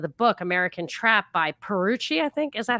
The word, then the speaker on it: Pierucci: the name of the book, American Trap by Perucci, I think. Is that how you pronounce it? Pierucci.